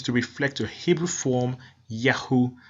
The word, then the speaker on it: Yahu: reflect a Hebrew form, Yahu. So whenever you hear of names such as Netanyahu, it really is to be pronounced Yao.